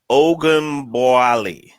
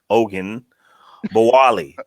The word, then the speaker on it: Ogunbowale: name is Ogunbowale. Ogun. So the first part, Ogun, Ogun, Bowale. The last part is Bowale, definitely.